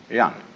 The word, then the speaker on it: Jen: a human being is called Yan spelled Jen for reasons best known to Chinese Scholars uh I don't know